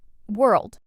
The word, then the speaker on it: world: Word number nine, world. This one's small but tricky. Some learners add an extra sound between were and it's just one smooth sound.